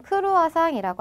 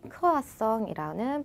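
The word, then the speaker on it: croissant: 자, 크라성은 성 자, 우리나라 말처럼 크루아상이라고 하는게 아니라 그 에흐름이 흐름이 나기 때문에 크아성이라는 발음으로 바뀌게 됩니다.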